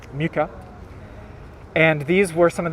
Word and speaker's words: Mucha: by the name of alfons muka or mucha depending on how you want to pronounce it there are all kinds of different pronunciations but i i'm going to use uh muka and these were some